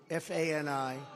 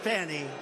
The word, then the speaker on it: Fani: It's all, look at Fani, F-A-N-I. It should be pronounced Fanny. Fanny. Fani. Fani. They say she gets very upset if you call her Fanny.